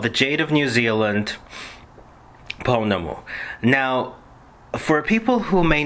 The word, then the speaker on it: pounamu: subject, and it's simply called, how do you pronounce the word Pounamu properly? Pounamu.